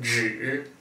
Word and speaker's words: 只: Okay, so this word here is pronounced 只 third tone, and it means only.